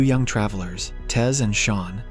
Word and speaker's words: Sean: young travelers, Tez and Sean, pronounced as Sheen, and an introverted man named C.